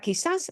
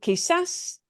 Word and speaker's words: quizás: And notice we've got that word quizás, ends in an S, but the way we pronounce the word violates that rule of ends in an S.